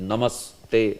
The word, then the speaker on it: Namaste: okay namaste say so this namas and this should be connected uh it should not be pronounced separately Namaste no Namaste Namaste say so